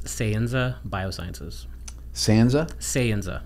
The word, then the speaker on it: Sayenza: your new company so it's sanza biosciences sza sanza sanza mhm okay how do you spell that s a y n Za a and